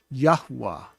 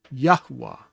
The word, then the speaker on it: Yahuwah: And if you say it fully, you're going to hear what seems to be a third syllable, but it's just a matter of the way of saying his name. Yahuwah. Did you hear the who in the middle? Yahuwah. That's an intentional thing. Yahuwah put it in his name like that because that's the way he wanted it. So it looks like it's two syllables, but sounds like three syllables.